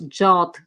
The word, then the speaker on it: JWT: however in today's talk i will pronounce pronounce it as jwt why because i'm not sure whether i pronounce jot clearly enough plus from my experience majority of developers are used to jwt pronunciation so json web token